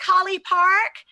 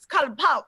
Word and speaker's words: Collipark: I was like, COLLIPARK. And you're like, no, it's COLLIPARK, shouted.